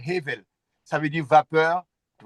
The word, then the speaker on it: Hevel: Et comme et comme le Abel commence par cette lettre là, c'est normalement c'est hevel.